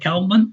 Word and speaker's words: كلب: And it's important to pay attention that you're pronouncing the kaf.